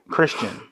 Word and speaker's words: Khristian: is Christian wh and it sounds like it's with a C when you just say it Christian and my name always